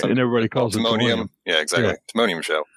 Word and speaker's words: Timonium: Timonium.